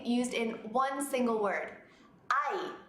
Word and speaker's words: hay: Hay, pronounced like I, but spelled H-A-Y.